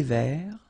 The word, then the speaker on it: vert: Final T not pronounced. Un thé vert.